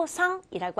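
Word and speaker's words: お父さん: 줘요 자 주의할 거는요 가운데 있는 우는 정확하게 발음하는 것이 아니라 장음 처리에서 오또 우상이 아니 오상이라고 하셔야 돼요 자 그다음에 우리 엄마는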